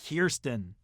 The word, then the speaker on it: Kirsten: Dunst from interview with the vampire yes it's pronounced Kirsten you know who else was in an interview